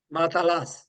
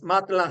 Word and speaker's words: matelas: Matalás, es matlás. Ah, Como es matelas. parecido al catalán, que es matalá. En francés es matlás.